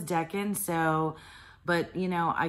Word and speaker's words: decan: of all of the deacon sorry Deacon I looked it up on Google guys I looked up how to pronounce it and Google says Deccan so but you know